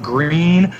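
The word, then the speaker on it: Gruene: and we're surrounded by places like Green which is spelled GRU E and E and then Fredericksburg so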